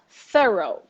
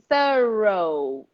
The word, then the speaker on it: thorough: do you say it thorough thorough don't pronounce the G just go thorough what does it mean